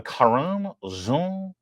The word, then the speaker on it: Karine: a karer that's the correct Haitian pronunciation Pier Peter Ducey asked her about the